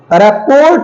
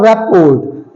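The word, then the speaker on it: rapport: पी ओ आर टी रिपोर्ट नहीं है इट्स नॉट रपट इट्स रेपो रेपो okay रेपो next is सी आर ओ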